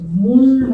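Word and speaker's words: ᄆᆞᆯ: 이게 이제 말이라는 발음과 몰이라는 발음 중간 발음 정도예요. 몰 이렇게 이제 하는 발음인데요. 이제 몰 하는 발음도 있고, 이제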